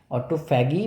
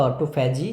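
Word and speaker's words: autophagy: অটোফ্যাগি বা অটোফ্যাজি, যে যেটা প্রোনাউন্স করবে।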